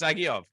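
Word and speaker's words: Dzagoev: So he's not pronounced Zagov. It's pronounced Zagiov. Zagoev.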